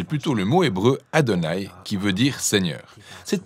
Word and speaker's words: YHWH: Mais aucun Israélite n'a jamais prononcé Yahoua, car c'est simplement un rappel visuel invitant à dire Adonai.